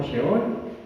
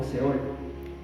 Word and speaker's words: Sheol: Se puede pues se pronuncia como sheol, pero se puede también, ¿verdad?, leer como seol.